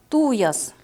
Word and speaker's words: туяс: это я следующая посуда туяс Как вы обратили внимание это слово произносится с ударением на первый слог туяс небольшой берестяной сосуд